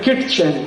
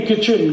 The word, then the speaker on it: kitchen: एक शब्द है किटचेन, KITCHEN। कहते नहीं किचन किचन किचन, फिर KIT क्यों लिख रहे हो? टी साइलेंट है, क्यों लगाया? हटा दो।